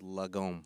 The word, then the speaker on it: lagom: But I came across a Swedish philosophy called lagom. I wanted to ask you if am I pronouncing it right.